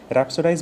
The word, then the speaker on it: rhapsodize: Rhapsodize basically means to speak or write about someone or something with great enthusiasm.